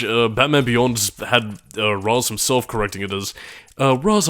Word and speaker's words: Ra's al Ghul: Then there was another thing where, again, I know the Nolan movies went with, you know, Ra's al Ghul because I think that's meant to be the correct pronunciation within that specific tongue, but yeah, the animated series called him Ra's.